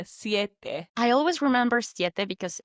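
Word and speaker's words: siete: Ciet. Two very clear syllables there. Ciet.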